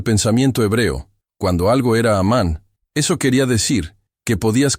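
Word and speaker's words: אמן: Esas 3 consonantes, Aleph, Mem, Nun, forman la raíz que se pronuncia amán, y esa raíz no tiene un único significado.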